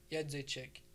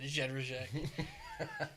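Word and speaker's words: Jędrzejczyk: Pronounce Yedzejczyk. Yedzejczyk. Yeah. Yedzejczyk. Yeah. I said that terribly. I said Jedrzejczyk.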